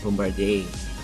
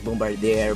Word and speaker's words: Bombardier: The company was Bombardier, diba? It's also important that you know how to pronounce the name. It's not Bombardier. The spelling is Bombardier, but it's Bombardier, diba?